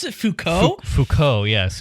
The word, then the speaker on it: Foucault: a what a simp i've i've never read foucault in the service of trying to get a